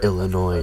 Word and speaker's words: Illinois: I really gotta work on not pronouncing the S in Illinois in front of somebody from Illinois, because it's really starting to make me look dumb.